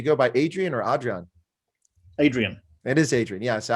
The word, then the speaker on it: Adrian: easy to do but i think i did mispronounce your first name do you go by adrian or adrian adrian that is adrian yeah so i just naturally